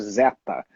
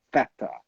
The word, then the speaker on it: Theta: Brasil chamaram de Zeta, mas eu acho que vem aí de uma pronúncia errada do inglês, que algumas pessoas falam um pouco errado, então deve ter soado Zeta para alguém, quando na verdade era Theta, né?